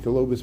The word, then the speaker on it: colobus: So black and white colobus monkeys. I used to call them Columbus monkeys, but I said it wrong.